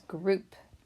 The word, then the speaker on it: group: our next word is group what group do you want to be in for the race gr gr oop it rhymes with soup and it's also spelled